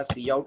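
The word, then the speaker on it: cout: और पूरा नाम पढ़िएगा, है ना, सी आउट और सी इन पढ़ना है, काउट किन नहीं पढ़ना है। मैंने बहुत सारे बच्चों को देखा है काउट किन पढ़ते रहते हैं इसको, ये नहीं है इनको प्रोनाउंस करने का तरीका। The better way to pronounce them is सी आउट एंड सी इन।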